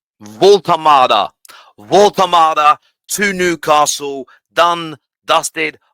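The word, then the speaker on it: Woltemade: But Nick Voltamada, I butchered it on the Football Terrace, and I think I called him Voltamade. That's the way the English would say it. It's Voltamada, I think. Excuse the German accent, but let's move on.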